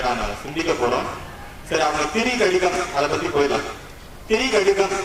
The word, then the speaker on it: திரிகடுகம்: திரு அப்படின்னு நம்ம சாதாரண சொல்லும்போது என்ன சொல்லிடுவோம், திருக்கடிதம் அப்படின்னு சொல்லிடுவோம். ஏன்னா நம்ம திருவாசகம், திருமுறை, திருவில்லியனூர் இந்த மாதிரி இந்த ஊர் பேர்லாம் எப்படி வரும், திருவோடு சேர்த்து வரதுனால திருன்னு வந்துடும். ஆனா சரியான உச்சரிப்பு இந்த நூலுக்கு என்ன, திரி கடிதம் அப்படின்னு. திரி அப்படின்னா என்ன, மூன்று. நம்ம த்ரீன்னு சொல்றோம் இல்லையா, இங்கிலீஷ்ல அதான் இருக்கு, நமக்கே அப்படிதான். திரினா மூணு.